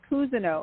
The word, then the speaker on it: Cousino: Cousini. A lot of people say that. They say Cousino from Las Vegas, but it's okay. It's Cousino, actually, Cousino.